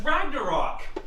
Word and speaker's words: Ragnarok: Oh yeah, that's how you pronounce that. It's Ragnarok!